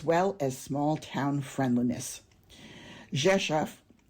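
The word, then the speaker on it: Rzeszów: Jesaf, it's pronounced Jesaf, is a city of about 200,000 people located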